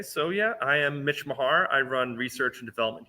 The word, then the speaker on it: Mahar: his last name, and he said Mahar, like handlebar Mahar.